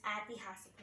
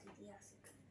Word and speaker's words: ऐतिहासिक: So here E is converted into A. So and it is pronounced also like that only, like it is ऐतिहासिक, not itihasik.